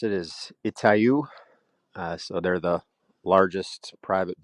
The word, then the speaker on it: Itaú: Yeah, I think the way you pronounce it is Itaú.